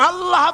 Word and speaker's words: আল্লাহ: আল্লাহ পাকের উচ্চারণটা হচ্ছে আল্লাহ পাকের নামের উচ্চারণ হচ্ছে আল্লাহ আল্লাহ মুখটা একটু গোল হয়ে যাবে বলেন আল্লাহ আল্লাহ সুবহানাল্লাহ